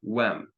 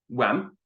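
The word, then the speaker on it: uaim: So ta kyarta wem. I want or need rights. The UAI is pronounced like a WE in English, approximately. So ta kyarta wem.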